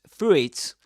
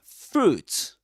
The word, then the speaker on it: fruit: It's not pronounced fruit, but fruit.